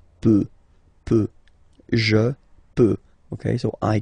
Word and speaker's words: peut: Je peux, tu peut. Then il, elle peut. So you will put T at the end, you don't pronounce it. Il peut, elle peut.